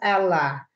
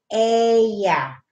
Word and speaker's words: Ella: We pronounce it as Ella. But here, they pronounce it Ella.